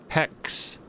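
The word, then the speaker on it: Pécs: The Hungarians call it Pex. That's where Ferenc is from. Doctor of Theology. So, I've never heard this word pronounced except during the tutorial mission at the very beginning of Neverwinter Nights 2.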